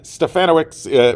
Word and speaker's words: Stefanowicz: Stefanowicz rhymes with Bananowicz.